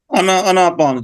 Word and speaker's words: आनापान: आनापान तो मतलब थोड़ा सा हम वैसे बोलने में प्रोनाउंसिएशन में ऐसे आ जाता है। आन अपान सती ध्यान होता है इसका सही प्रोनाउंसिएशन जो होती है। अनापान जी।